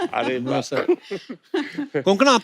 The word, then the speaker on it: कोंकणा: हमारे पर मुझे लगता है कोंकणा, आपको जब अलग अलग स्टेट के लोग मिलते हैं तो वो आपका नाम सही से प्रोनाउंस करते हैं. और आई एम श्योर अगर आपको कोई पंजाबी मिले वो हमेशा कंकना बोलेगा.